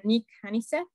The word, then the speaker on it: Nik Honeysett: So today we are going to hear from Nik Honeysett. I pronounce it right?